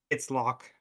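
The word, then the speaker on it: Locke: So, you said your character was lock like lock a door lock, but it's spelled with an e at the end because it looks fancy that way.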